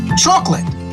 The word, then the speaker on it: chocolate: to count things like chocolate you could say a bar of chocolate with this pronunciation you only have two syllables right here chocolate chocolate repeat chocolate